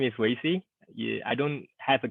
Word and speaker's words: Weixi: my name is Wei Zhi yeah I don't have a Christian name you can pronounce it as a way to see right as a way